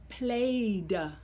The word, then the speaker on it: played: Let's look at the sound you hear in the word played. Played. Okay? It has the suffix or ending ed, but you hear the D sound.